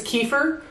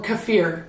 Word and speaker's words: kefir: My next favorite fermented food for those people who don't like funky, sour fermented vegetables is kefir or kefir. Depending on where you're from, you're going to pronounce it differently.